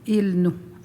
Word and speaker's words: Ilnu: je suis Innu, donc je vais dire le mot Innu avec un N. Et de l'autre côté, dans l'Ouest, il y a un dialecte aussi en L. Donc, eux vont prononcer le mot Innu, Ilnu, avec un L.